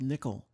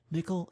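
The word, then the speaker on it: N1QL: provides a query language called Nikhil which is spelled n 1q l it stands for non first normal form query language Nikhil is similar to sequel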